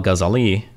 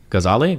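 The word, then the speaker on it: Ghazali: Alazar scholar Muhammad Al gazali gazali gazali gazali I think they usually second to last syllable right testified that when the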